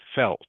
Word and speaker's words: felt: Explain how you felt. Felt. Okay. Felt. Yeah. Felt. Can you say it for me, please, Ding Lam? Please make sure you Felt. pronounce. Yeah, Felt. good. Pronounce the last consonant, the T.